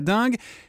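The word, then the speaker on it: dengue: La dingue. Alors, il faut préciser à nos auditeurs, ça s'écrit D E N et pas D I bien sûr.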